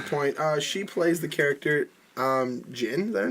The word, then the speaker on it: Jyn: She plays the character Jin. Is that her name? Jin. Jin. Yeah, it's spelled Jyn. Oh, I would say Jin then. So Jin, I guess.